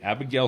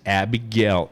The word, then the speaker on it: Abigayle: that says okay Abigail signed it on this date and this is